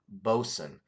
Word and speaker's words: Boatswain: It does say on the can Bosun because it looks like Boatswain. But it says Bosun in parentheses there how to pronounce it.